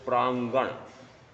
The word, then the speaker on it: प्रांगण: शुद्ध संस्कृत लिखना है तो प्रांगण, प्रा ग पर बिंदी, अण अशुद्ध है, प्रांगण। तो यहां पर अणंग कैसा आ रहा है? क ख ग घ। उच्चारण अलग आ रहा है। तो प्रा, फिर ग और नीचे आधा वापस वो ण, क ख ग ण वाला और फिर ण। अब लेखन कैसा हो गया? उच्चारण कैसा हो गया? प्रांगण।